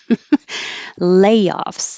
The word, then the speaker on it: layoffs: and nobody will notice layoffs this is um stress on the first syllable because it's a noun and you can use